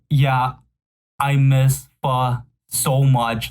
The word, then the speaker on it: pho: Pho.